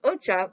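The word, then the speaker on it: お茶: kanji on the left of the slide is pronounced ocha which means t and the kanji on the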